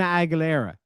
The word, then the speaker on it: Aguilera: Aguilera Aguilera is it Christina Aguilera yeah Christina Aguilera is that how you say it yeah well